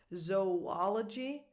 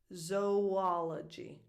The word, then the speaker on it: zoology: But then the pronunciation of these two words, zoology, zoologist, the same pronunciation as cooperation. So it's like you're, again, dividing these two O's for the word zoology and zoologist.